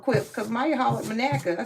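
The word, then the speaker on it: Monaca: He said, "Manaka?" He said, "Well, you pronounced it the right way, so that means you really probably are from Manaka."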